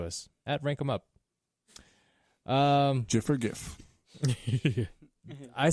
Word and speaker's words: GIF: debate on GIF versus GIF because the creator of the file type himself, after he won the award, was being toted off stage, and he's like, "It's pronounced GIF like the peanut butter."